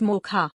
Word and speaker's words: Mocha: This weather system will be called Cyclonemocha, pronounced MOCHA.